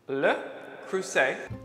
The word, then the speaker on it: Le Creuset: that you all know le creuset that's right the t is silent so let's start with